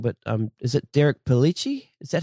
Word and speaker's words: Derek Pellicci: The other big personnel change that I want to talk about is, correct me if I say his name wrong, but is it Derek Pellicci?